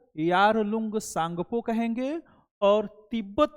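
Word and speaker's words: Tsangpo: तो इसका नाम है सांगपो। क्या बोलते हैं? सांगपो। सांगपो रिवर। ब्रह्मपुत्र रिवर को तिब्बत में सांगपो के नाम से जाना जाता है। इसमें टी जो है साइलेंट है।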